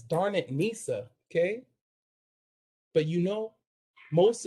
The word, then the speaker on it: Darnisa: everybody's great with names people remember it as darn it nisa okay but you know